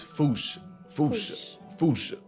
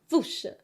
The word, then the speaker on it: Fossa: Foosha. Foosh. Foosha. You added extra syllables. No, I'm the Foosh. It's Foosh. Foosha. No, you saying Foosha. So you're adding a sh.